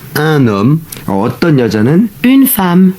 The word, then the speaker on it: femme: 네, 이번엔 디저트도 디저트 하나 oui, 하고 une parenthèse, femme c'est un E. Donc attention, la prononciation Oui, c'est A. Ah. C'est pas femme, c'est femme. 지금 우리 이사벨 선생님이 중요한